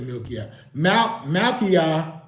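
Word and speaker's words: Malkiyah: all right or I I said milkia Mal Maia Uriel that's spelled m a l k i y a h uel u r i e l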